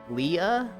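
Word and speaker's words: Leigh: name's Matt," I'm like, "Leah? Okay." How can you keep saying it? Because you put L-E-I-G-H. That's, like slay. People don't pronounce that.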